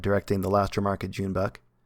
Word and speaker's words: Joon-baek: Junebuck, you said Kim right.